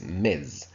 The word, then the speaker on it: Ms: I mean this is this is pronounced as myths uh but um it is only Ms which means that